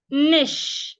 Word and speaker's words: niche: Niche. The CH here also sounds like SH. Niche.